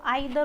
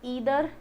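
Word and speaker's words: either: पुरानी इंग्लिश में इनको आइदर और नाइदर पढ़ा होगा आपने कहीं, है ना, आइदर और नाइदर नोर। लेकिन ऐसा नहीं है, इसकी प्रोनाउंसिएशन चेंज हो गई है। दैट इज ईदर नीदर, ऐसे बोला जाता है।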